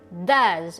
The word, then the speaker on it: does: At saka nga pala, ang tamang pronunciation ng does ay does. Okay? Yung S ay tunog letter Z.